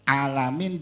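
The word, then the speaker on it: العالمين: bisa paham alhamdulillahirabbilamin di akhir alamin jangan diganti dengan huruf alif seringnya itu diganti dengan huruf alif di situ hurufnya Ain Ain jadi bacanya a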